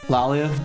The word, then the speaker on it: Laalia: Lalia. Okay. Is it La Alia or Lalia? It's more like a British double A sound.